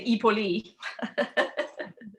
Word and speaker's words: hoi polloi: that's the the the hoi polloi blow them where the as miriam knows that the ipoli which is how you pronounce it in greek um but the the